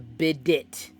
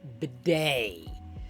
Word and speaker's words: bidet: And yes, by the way, I also know that it's pronounced bidet. Because that just makes everything better. When we call it bidet, makes it sound French.